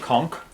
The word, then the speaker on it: conch: someone gave us and I read that it's pronounced conk a con shell a con so is it okay to say conch or should we say con is it you